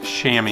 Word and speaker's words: Chamois: he is a chamois spitz alvin spelled like chamoy and it's pronounced shammy and so we're gonna call this cool guy